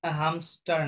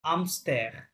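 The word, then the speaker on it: hamster: হবেসারটা কি লেখা আছে হামস্টার না এইটা তো সাইলেন্ট ফরাসিতে সবসময় তাই না তাহলে সেম আমস্টার কি হবে এটা আমস্টার হ্যা মানে দিস ইজ মাই হ্যামস্টার।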